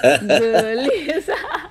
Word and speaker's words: gelis: Gelis harusnya dibacanya kan gelis gelis ya. Gelis ya. Beda kan E-nya.